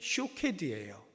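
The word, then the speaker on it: שׁוֹקֵד: 이 사퀘드라고 하는 단어와 함께 그 뒤에 12절에 나오는 내가 내 말을 지켜라고 할 때 이 지켜, 이것이 쇼케드예요. 그러니까 발음이 굉장히 비슷하죠.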